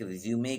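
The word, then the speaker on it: résumé: तरीकों में बिल्डिंग सामान तौर पर हित को रिज्यूम कहां जाता है लेकिन रिसीव नहीं उसका सही प्रश्न उत्तर सही उच्चारण रिज्यूमे बिल्डिंग है कि आपने देखा होगा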